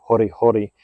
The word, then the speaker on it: hori hori: So what we're going to do is we're going to take our hori hori knife, or in Japan it's hori hori. They pronounce their R's like D's.